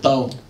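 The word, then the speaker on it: 到: So this character as a whole means to arrive, pronounced dao, and meaning zhi, to arrive, right?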